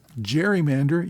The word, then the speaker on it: gerrymander: and his opponents started calling it a gerrymander, which became the term for districts that are drawn in weird ways to benefit an incumbent or a particular party. So gerrymander uses a soft G while the person for